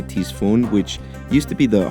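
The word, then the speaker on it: Ctesiphon: Seriously, it downloaded faster than I could say Tisfun, which used to be the heart of the ancient Persian Empire and also where the game takes place.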